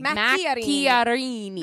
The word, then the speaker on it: Macchiarini: Macchiarini. Mac- Macchiarini. Macchiarini.